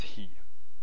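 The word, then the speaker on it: היא: is almost always spelled this way and it's pronounced he and it means she or or the feminine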